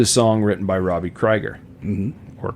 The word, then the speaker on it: Krieger: him okay I say Kreiger to make people happy but it is Krieger okay well it's spelled k-r-i-e-g-e-r so I would assume Krieger but it's Krieger okay but anyways you know